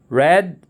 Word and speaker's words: read: you heard it right the last one have the same spelling but different pronunciation red is the past and past participle of the verb read there are some verbs with